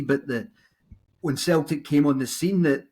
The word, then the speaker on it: Celtic: This quote is interesting because choosing the name Celtic, really, we should say, rather than Celtic, but over the mist of time, it just became a soft C rather than the hard C.